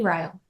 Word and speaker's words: Ryel: I always just called you Reel, I guess, in my head. Yeah, it's pronounced a lot of different ways, but it's Riy.